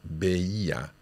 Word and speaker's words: veía: Veía. Quite tricky to say. There's three separate syllables there.